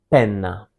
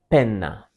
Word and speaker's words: penna: And penna. Penna. Penna means pen and since it ends with letter A, it's also a feminine word. And also another detail in Italian you have to emphasize the double letters.